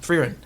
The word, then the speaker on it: Frieren: and Frieren?